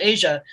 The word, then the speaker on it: Aja: It's very dad, but it's this record from 1977 called Asia, and there's some really, it's spelled AJA, and it's got a